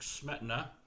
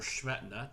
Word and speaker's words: Smetana: with the moldow by bedrick smetana or schmetna depending on how you pronounce it uh richard meyer